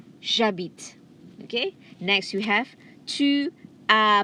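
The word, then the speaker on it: j'habite: be one as one jabit jabit okay next we have ah beat again h is silent h is silent okay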